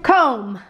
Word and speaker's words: comb: n d nailed it okay random random one comb this is a tricky one okay comb c